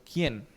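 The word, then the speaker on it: khen: ¿Quién? se escribe k h e n quién.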